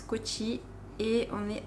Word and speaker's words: Kochi: Alors plus exactement, on est à Kochi. On dit aussi Cochin, enfin ça s'écrit aussi Cochin. Mais ici ils disent Kochi.